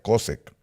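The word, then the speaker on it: חֹשֶׁךְ: esa palabra cosec cosec Así es como se pronuncia cosec significa miseria la palabra esa tinieblas es miseria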